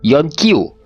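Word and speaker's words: よんきゅう: Ya, apabila angka 9 digabungkan dengan angka 4, maka penyebutannya bukan 94 guys, tapi penyebutannya menjadi Yonkyu.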